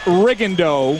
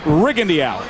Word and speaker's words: Rigondeaux: Well, if you're wondering, his name has been pronounced Riendo through most of his amateur career. But in prepping for this fight, the camp was very clear in saying that the preference is rigend.